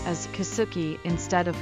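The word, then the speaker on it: Kisuki: kuki line it is written like this and pronounced as kuki instead of kitsuki the kuki line runs from Shinji station in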